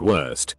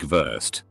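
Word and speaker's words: Wurst: couldn't pronounce W correctly W as pronounced V something like worst sausage is pronounced more like versed and she almost broke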